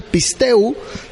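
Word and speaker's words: πιστεύω: es una palabra griega que se escribe pisteuo se dice se pronuncia pistu pero se se escribe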